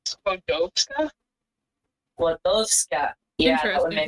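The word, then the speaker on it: Skłodowska: It comes up as Skodowska.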